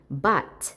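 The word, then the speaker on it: bought: 자, 발음 주의. But 뭐의 과거죠? 그죠? 사다의 과거로서. 자, GH는 소리 안 나고 o는 아의 중간. 자, but.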